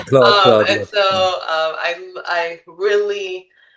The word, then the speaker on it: Claude: And so I literally just bought Claude. Hmm. I keep saying it wrong. Yeah, yeah. Cloud.